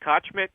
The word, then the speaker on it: Kochmit: Is it B.C. Kochmit? Is that how you pronounce it? Yep. Kochmit.